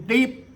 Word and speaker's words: Steve: or, they call me Lung Deep, because that's how they say Steve. A Thai person cannot pronounce an S and a T together, and they cannot pronounce a V. So Steve becomes Deep.